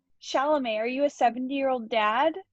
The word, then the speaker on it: Chalamet: He had Tim Chalfant or whatever that kid's name is. Chalfant? How do you say his name? Chalamet.